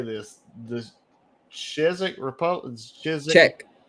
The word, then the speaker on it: Czech: Czech. No, it's just Czech. The Czech Republic. Yeah, the Z is silent. Yeah. So is the damn Z. There ain't no Z in Czech.